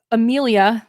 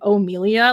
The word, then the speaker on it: Amelia: So we opened up with Amelia, the new Pink Ranger, though they keep pronouncing her name like O'Melia, like O'Melia. It's weird.